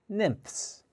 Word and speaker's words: nymphs: crickets are called nymphs this is a difficult word to pronounce let's try it together nips nips the pH sound sounds like an F nymphs now what do these